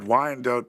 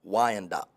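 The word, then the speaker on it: Wyandotte: Wandote, Michigan. Is that how you say it? Wand dot.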